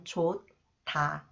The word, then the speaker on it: 좋다: If I read one by one, 좋다. This is too awkward and difficult when speaking quickly. Therefore, the 히읗 becomes a part of the next syllable, 디귿. So it is read 타, 좋다.